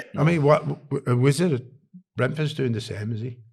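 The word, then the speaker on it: Brentford: Well, I mean, what Wizard of Bford's doing the same, is he? Have I pronounced that right? Um Oh, Brenford.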